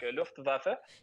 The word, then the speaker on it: Luftwaffe: C'est de l'allemand, il faut prononcer toutes les lettres. Donc, Luftwaffe.